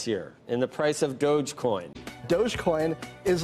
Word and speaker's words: Dogecoin: first let's start with how to pronounce this thing doggy dog coin it's dogecoin the digital currency started as a joke between two software engineers in 2013.